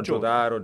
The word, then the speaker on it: Jotaro: se lo dici in giapponese è Jotaro, se no Jotaro, Jotaro, insomma... allora, la pronuncia giusta è Jotaro, Jotaro, Jotaro, Jotaro.